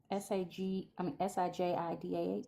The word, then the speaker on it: Sajida: The lady in should I'm guessing Sahida. Am I saying their name right? I feel like I'm saying it wrong. Sajida. Sajida. Huh? Sajida? Sajida? Okay.